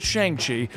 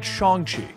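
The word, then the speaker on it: Shang-Chi: and yes i know for years we've all pronounced it shang chi and the movies and trailers are now pronouncing it chongqi known as the master of kung fu shongxi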